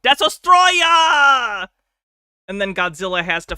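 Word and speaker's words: Destoroyah: not saying that arbitrarily his name is not desotroya it's desotroya you you have to say it like that it's the law lot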